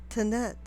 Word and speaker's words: Tanit: The goddess's name that we're looking for is Tanit, or it can be pronounced Tanit, but it's spelled with an E at the end in the complete message, to indicate that she's a Canaanite goddess.